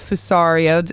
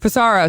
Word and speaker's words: Fusaro: episode and i have a good friend joseph fusario i said it right right cesaro for sorrow see i knew i was going to screw